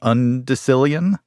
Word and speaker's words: undecillion: lawsuit and had to pay the plaintiff to undecillion dollars that was the question am I pronouncing it right undecilian I have never run into a person in